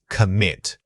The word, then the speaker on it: commit: The word is commit. Say it again. Commit. This is a classic example of stress moving internally. Give that m chunk significantly more power and duration than the introductory sound.